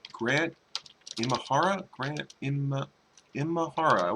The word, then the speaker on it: Imahara: poor grant we get his name right Grant Imahara granite in in Mahara I was saying it